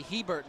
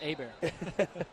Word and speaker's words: Hebert: remember as a kid i thought it was bobby hebert my dad said no chris it's a bear there's a lot of